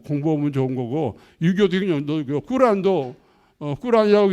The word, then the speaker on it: 꾸란: 좋은 거고 유교도 꾸란도 꾸란이라고 있는 것은 코란이라고 아니고 꾸란이라고 있는 것은 모하마드가 이게 또 마호메트가 아니고 모하메트가 이제 그 알라께서는 아랍어로 발음해야 좋아하신답니다.